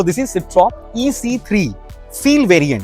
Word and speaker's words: Citroën: सिट्रॉन बोलते हैं कि सिट्रॉ बोलते हैं? Citroën. I think Because it's a French में N pronounce नहीं तो इट्स अ होता। सिट्रॉ।